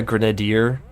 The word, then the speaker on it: grenadier: Grenadier. Isn't that how you pronounce it? You know what? I'm looking it up and I'm turning up the volume on the pronunciation. Here we go. Grenadier. See, grenadier. I got the middle syllable wrong, but grenadier.